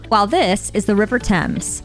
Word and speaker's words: Thames: This, for example, is Buckingham Palace, not Buckingham or Buckingham, while this is the River Thames, not Thames or Thames. This is pronounced Leicester Square, while this area is pronounced Greenwich, not Greenwich.